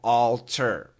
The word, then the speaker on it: altar: Now, the second syllable, T-A-R, is pronounced ter.